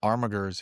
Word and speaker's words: Armigers: Yeah, it had the Armigas in for the first time before they went sale separately as well. The Knight Armigas, you know, like the little boys. Mate, we pronounce it Armigers here.